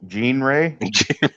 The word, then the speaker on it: genre: other category groups by genre that's how you pronounce that word by the way that's genre no it's G Gan Ray R my my gen Gan Ray Ray Gan